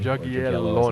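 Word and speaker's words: Jagiełło: The Jagiellonian family, or Jagiello as it's pronounced, was like a dynasty powerhouse in Europe at that time.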